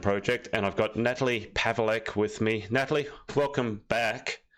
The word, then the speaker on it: Paweleck: Did I pronounce your name correctly this time? Yes, you did. You did really, really well. People always struggle to pronounce it and spell it. So, um, you did great. Well, I've had a couple of months practice, haven't I? Pavle. Pavle. Pavle. Yes. Most people go ple or something like that.